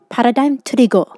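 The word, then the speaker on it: 패러다임 트리거: In this video, I'll be opening up the Korean version of Paradigm Trigger, or as it's pronounced in Korean, Paradigm Turigo.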